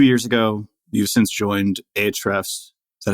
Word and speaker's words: Ahrefs: in animals two years ago you've since joined HRS is that how you pronounce it HRS it's up to you really but uh H refs is the internal company pronunciation uh refs so you're director of content